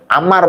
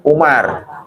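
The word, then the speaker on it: عمار: Abu Bakar As Siddiq Amar ya Amar bukan Umar Amar Jadi kalau Ain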